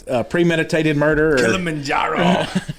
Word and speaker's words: Kilimanjaro: word kill em in kilimanjaro uh tanzania it sounds more like a um like killing men yeah like a uh uh murder thing you know like uh premeditated murder kilimanjaro right kilimanjaro is the